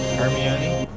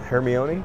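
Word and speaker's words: Hermione: isn't she she is oh herion how do you say it hermion yeah you didn't know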